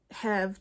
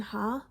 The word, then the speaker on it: Ha: Almost American Girl by Robin huh I think it's pronounced ha I hope so and this is a